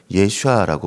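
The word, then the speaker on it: ישועה: 그리고 이걸 원어로 읽으면 예슈아라고 발음하게 됩니다.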